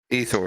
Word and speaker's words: Thor: Ithor, there it is.